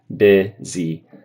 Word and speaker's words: busy: Instead of busy, I would say busy. So kind of like if a shadow in the first syllable, bi, and then e in the second syllable, e, busy, busy, busy.